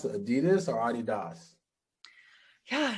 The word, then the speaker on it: Adidas: is adolf dossler and the name is actually um a blending of his first name and his last name so adi das because he went by